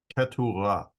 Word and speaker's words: Keturah: I'll try to do my best to give you a good Semitic pronunciation of all these names of the children that Abraham bore with his wife Keturah. Keturah.